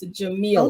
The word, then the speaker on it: Jamila: And I think I mispronounced your name, and I'm so sorry. It's Jamila.